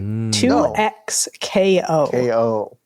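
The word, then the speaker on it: 2XKO: I was like, well, maybe you're supposed to pronounce it double knockout and they're just being funny. No. Right. 2x KO.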